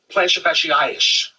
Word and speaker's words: plantar fasciitis: Plantar fasciitis sounds like Billy isish. It rhymes with cellulitis.